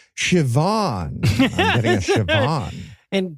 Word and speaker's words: Siobhan: Okay, I'm getting somebody in the room named Scio Bahan. Wait, wait, prophecy. God is telling me it's pronounced Siobhan.